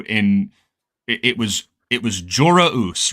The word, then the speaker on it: Joruus: It's also interesting because like the confirmation that we had got from Zahn was that the proper pronunciation of the W in it was Jorah Us, right?